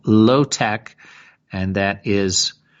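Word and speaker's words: LO—TEK: We can rewild our urban landscapes and apply low-tech ecological solutions to drainage, wastewater processing, flood survival,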